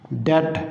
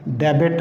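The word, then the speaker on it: debt: जिस तरह से देखें, इसकी एग्जांपल है डेट, यहाँ पे बी साइलेंट है। डेबिट नहीं पढ़ते इसको हम, डेट।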